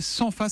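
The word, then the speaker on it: Senfa: Et l'entreprise s'appelle Sanfa, ça s'écrit S-E-N-F-A.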